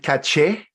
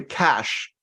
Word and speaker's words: cache: Is it caché, which is how most of us pronounce it in Spanish, for example, or cache, or it's actually cash in English?